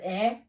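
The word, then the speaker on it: 의: with this little symbol it's romanized as UI but it's pronounced as e or at the end of a word so this is ur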